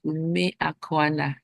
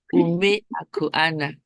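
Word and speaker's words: Umeakwana: Okay, so standing on the existing protocol, I am Ume Akwana. It's a three-syllable word. Ume Akwana for your Ume information.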